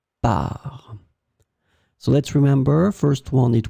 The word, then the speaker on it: parts: the plural form, so with the S in the end, that is totally mute, you don't pronounce it, so it will be exactly the same pronunciation, par.